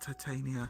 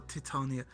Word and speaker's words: Titania: We can get a cake for Oberon and Titania, or Titania. Is it Titania or Titania? Generally, I've heard everyone call them Titania. So I'm going to assume that that's the pronunciation they prefer.